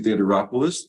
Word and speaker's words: Theodoropoulos: are excited to be joined today by Theater rois the owner of burn boot camp St Louis